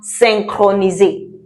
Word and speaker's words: synchroniser: And then we can have synchroniser.